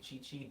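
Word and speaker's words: Qiqi: i'm learning right like there's a character named chichi and it's spelled q-i-q-i and like my brain thinking about like dragon ball z chichi did break for a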